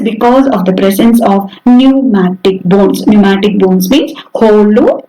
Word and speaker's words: pneumatic: P is silent here. So pneumatic bones.